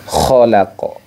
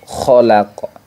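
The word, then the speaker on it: خَلَقَ: perlu kita perhatikan yaitu pada kata khalaq nah khalaqo khalaqo nah makhrajnya ko itu letaknya pada aznal halqi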